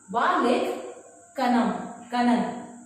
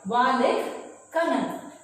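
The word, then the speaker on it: Vallikkannan: So you will pronounce it with me. That is Valik. Valik Kanan. Right? Valik Kanan.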